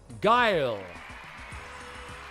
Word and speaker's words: Guile: It is of course uh guile guile because you taught me how to say it properly.